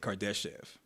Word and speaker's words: Kardashev: created the scale and that's how you say it kardashev all right so there